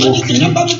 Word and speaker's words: Okui: Ça s'écrit O-K-U prima. Ça se dit Okui. O-K-U prima. Oui, Okui.